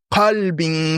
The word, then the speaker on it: qalb: Imaginez, vous lisez, vous ne respectez pas bien la prononciation, vous dites, sauf celui qui vient à Allah, illa man ata Allah bi qalbin salim. C'est grave. Parce que kalb, c'est le chien et qalb, c'est le cœur.